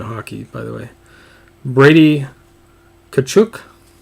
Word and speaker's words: Tkachuk: by the way brady tkachuk T is silent mathieu Perreault I heard